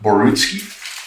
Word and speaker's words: Borutski: Now, Basil, am I pronouncing your last name correctly? Is it Borutski?